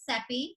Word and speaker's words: Sepi: myself my name is sepi and i always say sepi rhymes with pepe i'm originally from houston